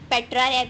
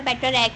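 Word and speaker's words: Petrarch: ठीक है, mostly sir ने हमें पेट्रारैक पढ़ाया है, लेकिन इसकी जो है वैसे हम इसको प्रोनाउंसिएशन पेट्रारैक भी बोल सकते हो, पेट्रार्क भी बोल सकते हैं इसको।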